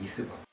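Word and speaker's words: Wrisberg: 뭔가 리스버그 인대라는 게 리스버그. W는 묵음이에요.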